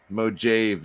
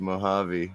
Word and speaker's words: Mojave: It's like listening to people say Mojave instead of Mojave, you know?